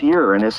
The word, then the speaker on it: Uranus: But Uranus, pronounced Uranus in polite astronomical circles, does not deserve its dull or comic reputation.